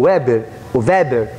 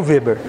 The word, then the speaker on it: Weber: Existe um sociólogo chamado Weber, ou Weber, aí tem várias pronúncias, eu falo Weber.